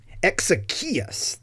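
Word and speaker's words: Exekias: Exechius, I believe. Exechius, I cannot remember, but that's why we know his name, right? He signed this piece of work. Exechius, that's how it's pronounced.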